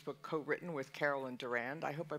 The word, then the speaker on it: Durand: Freedom Omid scoby's book co-written with Carol and Durand I hope I pronounced Duran right correct that's good okay um